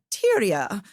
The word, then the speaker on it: Tyria: Tyria, Tyria, Teria if you're British. Like, you know, depending on like how you want to pronounce it, but let's just call her Ty cuz that's what Lee called her.